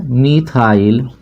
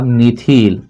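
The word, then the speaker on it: methyl: तो यहां लिखेंगे मिथाइल या मिथिल। मेथिल मिथाइल पढ़िए चाहे मेथिल पढ़िए। दोनों बात एक है। आपके प्रोनाउंसिएशन के ऊपर निर्भर करेगा कि आप इसको मेथिल पढ़ेंगे कि मिथाइल पढ़ेंगे।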